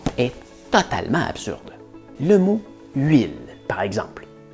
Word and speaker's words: huile: Le mot huile, par exemple. Pourquoi est-ce qu'on met un H muet au début de huile? Parce qu'avant, ça s'écrivait huile. Par contre, à cette époque, la lettre V n'existait pas.